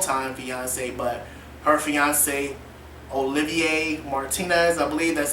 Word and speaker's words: Olivier Martinez: can't say long time fiance but her fiance olivier martinez i believe that's how you pronounce his name um he's a french actor